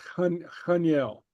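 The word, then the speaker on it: chan eil: And the way we pronounce the ha right here, it's a softer guttural. So it's chaniel.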